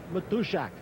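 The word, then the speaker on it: Matuszak: special pregame guest my polish friend uh John matthushak that's how you want to pronounce it Horner against Darwin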